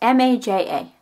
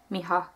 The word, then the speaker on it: Maja: It's M-A-J-A. But usually the J, a lot of times in a name like that, is pronounced like a H, Miha.